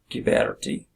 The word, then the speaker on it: Ghiberti: GH in Italian is hard G. Ghiberti.